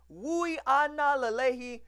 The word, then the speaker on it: Uiagalelei: about five star quarterback 2020 six-foot-four 240-pound DJ Louie Anala Leahy yes that is how you pronounce his name shout-out to 24/7 for crooning